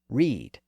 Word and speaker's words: ride: were riding to canterberry but he would have pronounced it read and at least in some places he spelled called it r i d e just like we do today over time the pronunciation shifted from read to ride but that common spelling